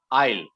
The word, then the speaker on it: isle: i s n e where the s is silent you that is the